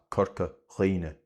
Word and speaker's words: Corca Dhuibhne: IMH or IBH when within a word in Munster will often be pronounced as a long e sound. So, that is the reason why where other dialects have cuimhne and díbhinn and Corca Dhuibhne in Munster, these words are pronounced cuinne memory í for eggs and Corca Dhuibhne for the Dingle Peninsula.